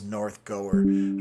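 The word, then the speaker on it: North Gower: So, uh, Jason, oh, your first pronunciation is correct. The W is not pronounced. So, it is northgoer.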